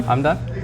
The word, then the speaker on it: Hamdan: Hamdan? That's how you do pronounce it, right?